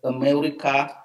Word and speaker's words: America: It came very often in the debate, and most of the time we tend to pronounce the first A like ah, whereas it's just America.